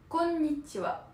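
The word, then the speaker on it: こんにちは: Et pour la formulation, Mephisto, c'est konnichiwa.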